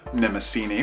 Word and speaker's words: Mnemosyne: at a pretty interesting Indie called path to nemini for the Nintendo switch and yes I actually did do the research I finally looked at a pronunciation guide it is nemini which is the goddess of memory so I